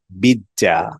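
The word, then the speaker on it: بيتزا: আমরা বলি পিজ্জা। এটাকে আরবিতে বলে বিজ্জা।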